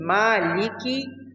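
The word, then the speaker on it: مَالِكِ: The Mim in Maliki should be pronounced clearly without completely closing the lips.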